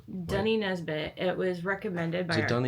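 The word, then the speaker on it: Doheny: something like that yeah dunny but it's spelled like d o h e n y but dunny it's dunny recommended by our Taxi Driver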